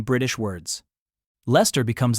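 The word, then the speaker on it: Leicester: Americans also love mispronouncing British words. Lester becomes Liechester.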